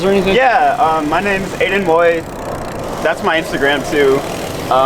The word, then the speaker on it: Aidan Woith: Yeah, my name's Aidan Woith. That's my Instagram too. Spell it out, no one will know.